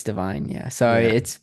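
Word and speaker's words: Da'Vine: America Ferrera for Barbie, Jodie Foster for Nyad, and Davine Joy Randolph for The Holdovers.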